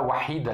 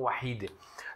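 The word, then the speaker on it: وحيدة: Claro, aqui você pode falar wahida, né? Porque tá marbuta, pode pronunciar como e ou como a. No árabe dia a dia a gente fala como wahide, tá bom?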